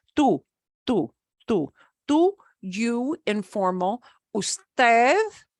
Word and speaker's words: usted: Usted, U-S-T-E-D, which is often abbreviated to U-D, but we pronounce it usted, the formal you, and ustedes, which is the plural you.